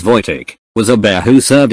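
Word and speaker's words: Wojtek: were discussing TL Notes One vek pronounced as VK was a bear who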